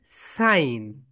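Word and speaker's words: sign: সাইন, তাহলে এটার pronunciation হচ্ছে সাইন। অ্যান্ড এটার স্পেলিং কি বলো? হাউ ডু you spelling this word? S আই জি N, that is spelling and pronunciation is সাইন।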